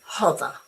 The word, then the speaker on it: hover: You say hover as in sock.